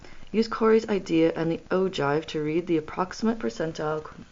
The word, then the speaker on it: ogive: the following chart, saying, "Here is the ogive," pronounced ogive, before leaving abruptly.